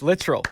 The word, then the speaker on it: Littrell: I would say luttrell it's literal literal yes yeah like called you like how proud of yourself are you I'm very proud literal yeah literal like literally is it